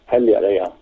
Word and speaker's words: Heljareyga: How do you pronounce that? Heljareyga.